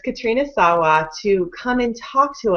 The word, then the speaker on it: Katrina Sawa: wanted Katrina um Sawa I always say her name wrong so that's why I avoided it at first um it's Katrina Sawa to come and talk